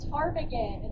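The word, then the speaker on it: ptarmigan: But the actual Alaska state bird is the taragan. It's spelled P T A R M I G A N. And what's interesting about a tarant going to the bathroom because the P is silent.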